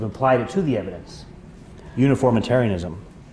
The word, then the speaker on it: uniformitarianism: Uniformitarianism. And you got to pronounce that right, because you don't want to go around saying unitarianism. That's a whole different thing, right?